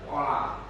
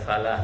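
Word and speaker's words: فلاح: Nggak ada artinya. Harus hayya alal falah pakai fa.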